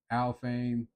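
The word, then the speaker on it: Alfheim: And that's this place called Al Fame. Yes, I did look up how to pronounce it.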